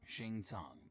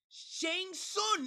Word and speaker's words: Shang Tsung: And if that wasn't enough, the outworld sorcerer Shing Tong added insult to injury by Shang Tang. It's Shang. Shang Tsung. It even says it in the game. There's no way you you mispronounced that.